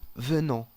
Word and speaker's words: venons: se pone ONS y se pronuncia on, ¿ok? La S al fin de la palabra no se pronuncia y la N tiene un sonido que no es muy fuerte, no es tan fuerte. Un sonido que casi salga desde la nariz.